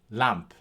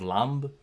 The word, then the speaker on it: lamb: Despite the fact that it's pronounced P at the end, as a P, it could very well be that this word could have been pronounced by someone from that time or a little bit before that time as lamb, but for our purposes,